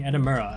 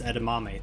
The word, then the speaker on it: Edamura: teammates roast him by constantly getting his name wrong pronouncing edimura as edamame throughout the show this is especially funny